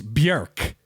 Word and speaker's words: Björk: Like, to be honest, I've brought this up before, but Jake, we're saying Björk wrong, right? Oh, yeah. Sadly. It's Björk. It's not an or sound, it's an sound.